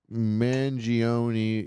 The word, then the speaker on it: Mangione: me see so Luigi mangioni unibrow Luigi mangioni is it man is that do you pronounce it mangion like Chuck mangion yeah that's cool he's